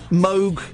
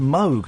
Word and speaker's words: Moog: was the first ever Moog synthesizer in pop music was on a monkey record and it's pronounced Moog not Mo I always feel weird